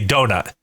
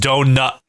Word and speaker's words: donut: but all right so you don't pronounce the T because you're a little East Coast you just stop in the middle of the U that's what we do we say donut we don't say we